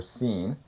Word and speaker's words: Shin: Shin, in Hebrew, it's pronounced SH or S, so it's either be Shin or Seen, means a tooth.